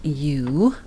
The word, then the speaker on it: mu: Okay, our population mean is mu, and we pronounce that mu, mu.